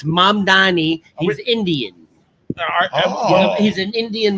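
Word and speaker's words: Mamdani: So, uh Mandavi. M. Am I going to have to say his name every morning? Italian. It's It's Mam Dani.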